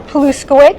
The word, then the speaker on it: Paluszkiewicz: are all right uh my name is Barbara palowitch So if you're taking notes paloo is spelled the exact way it sounds pitch you